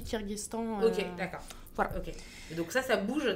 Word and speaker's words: Kirghizistan: se disent en fait ça s'écrit Kirghizistan mais on dit kirghestan et donc ça ça